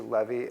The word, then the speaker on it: Levy: Levy, L-E-V-Y, and I am the chair of UB Neurosurgery.